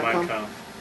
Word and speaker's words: Mein Kampf: Is that how you pronounce it? Yeah, Mein Kampf.